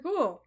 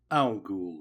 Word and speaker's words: Al-Ghul: Ghul, welcome to our home. Please come in. Al-Ghul, my lady. Though I take no offense at the good judge's mispronunciation, the name is ancestral and comes from Arabia.